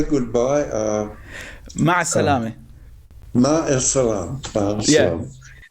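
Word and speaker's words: مع السلامة: Ma salame. Ma salam. Yeah. Ma salama.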